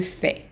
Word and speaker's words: fais: this one is that the S at the end is silent. So most words in French, when they have an S at the end, it is silent. The AI in French is pronounced as an A.